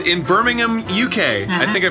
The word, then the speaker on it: Birmingham: It's in Birmingham, UK. Mm-hmm. I think I pronounced that right. Birmingham, right?